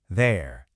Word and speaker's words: there: In a lot of the UK, that R sound at the end is super soft, almost like it isn't even there. It sounds more like there.